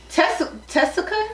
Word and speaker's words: Tessica: Her name is Tessica. Oh, I never knew her name. I don't know her freaking name. It's spelled like Jessica with a T.